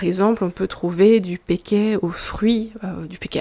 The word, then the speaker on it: péquet: Donc un alcool typique des fêtes de Wallonie, c'est le péquet. Le péquet, donc ça s'écrit P-E accent aigu K-E-T, c'est une orthographe un peu bizarre, c'est un mot qui vient du wallon.